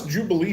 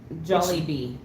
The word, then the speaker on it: Jollibee: I What's What's this Jubilee stuff? Jollibee.